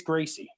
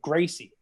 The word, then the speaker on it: Gracie: Royce Gracie, which is spelled with an R, but it's pronounced like an H. That's Brazilian.